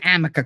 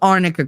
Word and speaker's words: arnica: told you her lawyer you're saying it wrong there's no such thing as Amica cream it's called arnica cream since she's so well